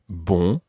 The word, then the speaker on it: bon: spelled bo n n e as opposed to ball which is spelled B or n listen to the difference